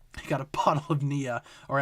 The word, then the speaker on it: Nia: I got a bottle of Nia, or as my Google Home Mini calls it, NYA for some reason, because it cannot pronounce the name Nia for whatever reason.